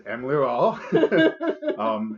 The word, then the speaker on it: Emlearal: it the name of Emlearal, which a lot of people ask me about how to say that. I think I've been saying it wrong. But it is Emlearal.